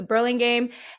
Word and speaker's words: Burlingame: burlingham is it brilliant yeah with a g there's a g in it so is it burling game burning yeah okay okay cool so burlingame hemet oh my god